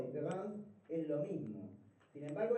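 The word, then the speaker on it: différance: Y él lo que le cambia es una letra, que si se pronunciasen, digamos, relativamente, no tendrían cambio en la manera que se pronuncia. Différence, acá, o différence, es lo mismo.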